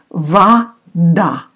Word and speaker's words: вода: But you remember that О often you pronounce like А. So it's actually вода, вода.